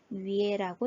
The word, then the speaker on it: 月: 그래서 읽을 때 위에라고 읽는다 라고 하는 것을 하나 체크하시면서 위에 사성을 넣어주시면 되겠죠.